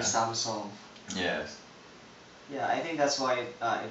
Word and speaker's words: Samsung: I think it's the same thing that happened with Samsung which should be Samseong...